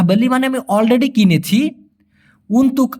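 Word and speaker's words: untuk: ইনি ছায়া সুডাহা বেলি মানে আমি অলরেডি কিনেছি উনতুক আওয়ার জন্য আপনার অথবা আপনার জন্য আর কি এটা আমি আপনার জন্য কিনেছি আপনারা খেয়াল করে দেখবেন উনতুক এভাবে না বলে আমি বলতেছি উনতু মানে কটা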